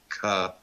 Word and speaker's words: Cthulhu: He went and there was a newspaper interview, God, probably back in the 1930s or 40s, and he actually pronounced it out as Cthulhu.